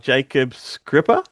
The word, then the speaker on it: Jakob Skrzypa: But anyway, here with us is the writer himself, Jacob Scripper.